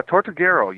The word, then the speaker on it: Tortuguero: John, and that I believe once again the pronunciation is Tortuguero? Uh Tortuguero, yes, yes.